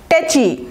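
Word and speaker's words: tetchy: দেখি পরেরটা টেকি টেচি এটার উচ্চারণটা দেখেন টি আছে মাঝখানে টেচি ইচি ইচি দিয়ে মনে রাখবেন আমরা চুলকানোকে কী বলি ইচিং ওইটার উচ্চারণ যেরকম চ দিয়ে তাহলে এটাও হবে টেকি ঠিক আছে না সরি টেচি এটা তো টেচি আর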